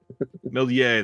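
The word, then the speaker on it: Méliès: you know how to say is it Mee melier melier that's right uh this one is an interner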